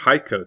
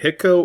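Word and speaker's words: Hico: Next, Haiko, Texas. It is not Hiko or Heeko.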